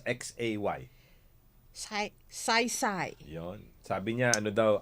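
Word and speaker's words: Xay: Sabi ni Ano ba, how do you pronounce X-A-Y? Sai.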